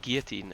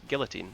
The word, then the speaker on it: guillotine: and that's the thing the americans call it guillotine and it's guillotine it is definitely yeah there's elves in that